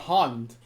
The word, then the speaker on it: Hand: play and the okazemi the German word for hand is it's hard like you have to say it like hand yeah it's like that